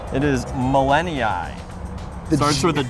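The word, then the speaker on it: gmelinii: in pronunciations it is millennia it starts with a g i could hear that in your voice there the g is apparently silent artemisia millenniai this is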